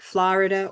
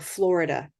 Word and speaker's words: Florida: those of us that say Florida where it's both the O and the r together that's our controlled and Florida is not because the r is now the beginning it's it's a different syllable that's pretty um technical so for students in the room I just want you to know you can use either one and they both work Florida or Florida they're